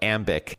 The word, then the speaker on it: Ambiq: All right, so Charlene at a high level please explain what Amic does and for our listeners ambic is spelled A M B IQ.